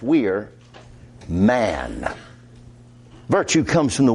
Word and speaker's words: vir: Coming from the Latin word vir, spelled V-I-R, but pronounced wir, man.